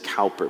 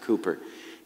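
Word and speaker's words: Cowper: toward jesus william cooper his name looks like it says calper but you pronounce it cooper he's an old poet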